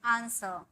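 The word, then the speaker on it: answer: allow उत्तर देना आंसर यहां भी र का एकदम साउंड नहीं होता है सिर्फ हम बोलते हैं आंसर आंसर ठीक है डब्लू का भी यहां पर साउंड नहीं होता है आन स ठीक है आंसर बहस करना आगयो यहां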